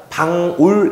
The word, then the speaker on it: 방울: 자, 이 친구는 바울이라고 읽으면 안 된다 그랬죠. 이거를 좀 확대해서 잘 볼 수 있겠으면 요런 모양인데 이거 우리가 읽을 때 바울이 아니라 방울 이렇게 읽어야 돼요.